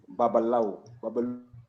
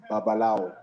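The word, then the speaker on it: Babalawo: We talked a bit about Nimrod, and I said the name Babalau. I mispronounced it. Yes, on purpose. But I think the real name is Babalao.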